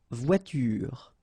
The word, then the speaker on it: voiture: don't pronounce it une voiture. Same thing here, the last thing that you will hear is this r, voiture, voiture, so it's not here, okay, so clearly you don't pronounce it here.